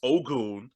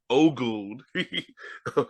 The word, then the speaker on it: Ogun: It's Ogun. It's pronounced Ogun. What a bad dude. Yeah. Like the deity.